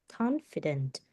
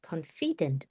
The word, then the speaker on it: confident: So the first one is confident. The stress is on the first one. Okay. It's not confident. No, it's not like that.